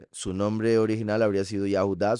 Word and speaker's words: Yehudá: Recuerden que Judas, su nombre original habría sido Yahudá, solo que lo más seguro no lo pronunciaban Yahú por no pronunciar Yahweh, entonces por eso siempre le digo Yehudá y también porque no merece que se diga Yahú.